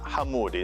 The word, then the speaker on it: Hamoudi: In Arabic, ala Hamoudi.